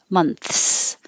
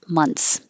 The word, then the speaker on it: months: you're saying the plural you don't have to have to have a good th you can months months or you can skip the th and nobody will notice months but if it's supposed